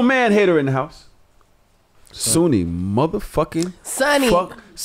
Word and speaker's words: Sunni: I'm but it's sun it's Sunni can be Sunny yeah it can be in in a lot of cultures a lot of people pronounce it sunny cuz you know Muslim Sunny Muslim so I I understand my